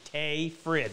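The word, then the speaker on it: Tage Frid: the other would be tay frid and how that name gets butchered so bad t-a-g-e last name f-r-i-d tay frid that's how you pronounce it i spent some time with him in the summer of 87.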